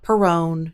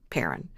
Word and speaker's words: Perron: By the way, it is pronounced Perron, not Perron, not Perron, Perron.